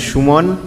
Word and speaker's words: Suman: But it is, I mean, I pronounce my name as Suman, right, which is very much a Bengali name.